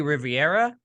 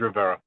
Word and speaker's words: Rivera: Joining me today, and I apologize if I say it wrong, is it Rivera? It's Rivera. Rivera, sorry about that.